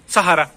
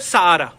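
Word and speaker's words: Sahara: तो टेक्निकली अगर मैं स्पेनिश होता, पढ़ रहा होता, इसको क्या बोलता, सहारा, सहारा, क्योंकि एच साइलेंट कर रहा हूं मैं ना, सहारा। लेकिन नहीं, सहारा एक फॉरेन का वर्ड है, जैसे अफ्रीका में वो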